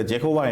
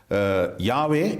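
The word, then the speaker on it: Yahweh: பிரபலமாகிவிட்டது ஆனால் இன்றைக்கு ஆராய்ச்சியாளர்கள் இந்த ஜெகோவா என்பது தேவனுடைய உண்மையான பெயர் என்பதை ஏற்றுக்கொள்ள மாட்டார்கள் அது பிற்காலத்தில் ஐரோப்பியர்களினால் தேவனுடைய பெயரை அவர்கள் உச்சரித்த ஒரு முறை ஆனாலும் ஏசாயா 40 12 ஆம் அதிகாரம் எட்டாம் வசனத்தில் தேவன் சொல்கிறார் நான் கர்த்தர் தமிழில் அப்படித்தான் மொழிபெயர்த்திருக்கிறார்கள் இது என் நாமம் என்னுடைய நாமத்தை நான் வேறு எதற்கும் கொடுக்க மாட்டேன் எனவே தேவனுடைய பெயர் யாவே என்று நாம் உச்சரிக்கின்றோம் இந்த யாவே என்பது தான் சரியான உச்சரிப்பு என்பதை நம்முடைய தமிழ் கிறிஸ்தவர்கள் புரிந்து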